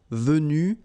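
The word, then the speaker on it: vus: So basically you've get the pronunciation vu vu and then the same thing vu you don't pronounce this final uh v you don't pronounce the final s v you don't pronounce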